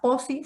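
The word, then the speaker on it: Pozzi: Busquen cuál es la pinza POSI. Se escribe P-O-Z-Z-I.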